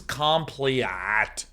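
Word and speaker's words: compleat: so people say Sean it's pronounced exactly the same as complete and to those people that have been spamming my chat for months this is compliat and you have to ah at the very end just like that you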